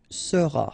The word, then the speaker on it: seras: Alright, then tu seras, final S not pronounced, tu seras, il sera,